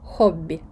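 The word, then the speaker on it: hobby: неї звертаються Оля Ола винятками можуть бути наприклад слово хобі англійське слово і ви його будете вимовляти як хобі як в англійській мові так На щастя ці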